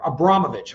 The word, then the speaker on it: Abramovich: I'm probably saying that Abramovich, I'm sorry, no ch on the end of it. just a C, but everybody I've seen pronounces it um Marin Abramovich.